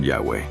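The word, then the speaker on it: Yahweh: ih hw eh H que se pronuncia como yahwe y sabes lo que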